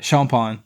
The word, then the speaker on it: Champagne: talk to me anyway my mother's maiden name is uh champagne so it's just like champagne and spill just like champagne but exactly champagne is it's like